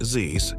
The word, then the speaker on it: Zeiss: Zeiss, pronounced Zeiss, to craft the mirror systems.